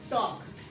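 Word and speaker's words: talk: तो ए और के दरमियान में एल फिर साइलेंट है, वॉक, टॉक।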